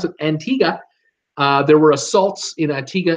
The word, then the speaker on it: Antigua: other news this week unfortunately Antigua I'm T Antigua as they tell me as how you pronounce it Antigua there were assaults in Antigua in the last